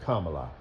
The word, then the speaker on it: Kamala: It's actually pronounced Kamala.